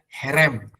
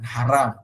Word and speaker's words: herem: ada sebuah konsep yang namanya herem bukan haram tapi herem ya herem Ini apa Pak